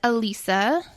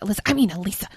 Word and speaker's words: Alyssa: So, this is actually from my good friend, Elisa. It's spelled like Alyssa, but if you call her that, she will kill you. I would never do that. Literally all night, she's been like, Elisa.